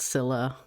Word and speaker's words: Scilla: yet to work on Sila or Sila. It's pronounced one of those two ways. I think it's I think there was an entire conversation about this I had with some people and I think it's technically pronounced Sila but I was but I always pronounce as sila cuz I'm a little freak.